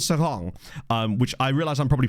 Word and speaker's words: Seraing: I looked it up, the only pronunciation that I could find in, like, Walloon, like French Belgian, was Seraing. Because all the other ones are all Dutch pronunciations, which obviously they're not a Dutch team, so...